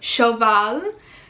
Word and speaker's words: Shoval: Shoval. Shoval, it reminds me of shovel.